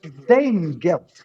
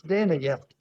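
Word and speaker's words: Danegeld: it it's a bit like dame guilt which is the way we normally pronounce it which I must say when I was a boy I always thought meant gold for the dame but it isn't it's dana guilt and it's its origins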